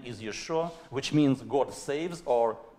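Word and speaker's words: ישוע: They say not Yeshua, but Yeshu. But Yeshu is not the name. It is curse.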